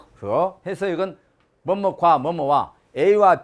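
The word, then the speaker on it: 和: 화자 발음 허 허 해서 이건 뭐뭐과 뭐뭐와 a와 b와 c와 d 이렇게 연결할 때 병렬 관계로서 영어로 and 그런 의미로 쓰일 때 씁니다.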